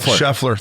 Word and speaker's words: Scheffler: Scheffler.